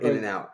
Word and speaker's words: In-N-Out: it I don't get is it pronounced In and Out Burger yeah in and out or In-N-Out burger no